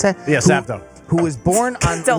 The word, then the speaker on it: Sappho: Is that how you pronounce that? Yeah, Sappho.